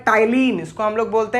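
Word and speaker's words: ptyalin: इसको हम लोग प्यार से टाइलिन भी कहते हैं। याद रखिएगा, स्पेलिंग पी से स्टार्ट होता है, बच्चे कंफ्यूज ना हो जाएं।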